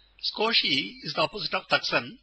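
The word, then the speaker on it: すこし: i and pronounced as scosi with the U silent scosi is the opposite of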